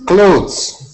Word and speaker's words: clothes: Clothes. Ahmed. Clothes. Ahmed. No, Clothes. close. pronounce like close the door.